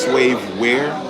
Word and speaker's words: Swavewear: It's pronounced slave wear, but it's spelled we are, because we are slaves.